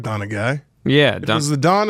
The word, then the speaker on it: Donaghy: His name is spelled Tim, obviously, and then Donaghy. It's Donaghy, but I like Donaghy.